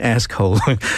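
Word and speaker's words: askhole: And ask-hole. So you got to pronounce it carefully. Yes, you got to have the K in there.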